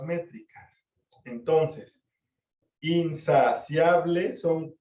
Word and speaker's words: insaciable: En cuanto a la fonética de la pronunciación, se podría escuchar como in, 1, sa, 2, si, 3, a, 4, ble, 5 sílabas. Pero la realidad es que la regla gramatical dice que si hay dos vocales juntas, se unen para formar una sílaba, y eso se llama diptongo. Por lo tanto, gramaticalmente, insaciable tiene solamente 4 sílabas.